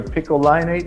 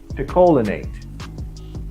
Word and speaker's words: picolinate: i recommend is called zinc either piccolinate is pronounced or picolinate p-i-c-o-l-i-n-a-t-e and the reason